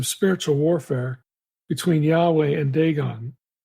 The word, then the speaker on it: Dagon: warfare between Yahweh and Dagon, or you could pronounce that name Dagon. The English translations typically have Dagon with an O. Outside the Bible, the name is Dagon, D-A-G-A-N.